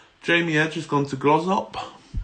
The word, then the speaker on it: Glossop: edge has gone to grows up is how you pronounce a Glossop it's a bit where's